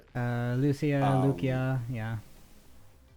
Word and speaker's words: Lucia: her name differently than I thought it was pronounced but uh Lucia.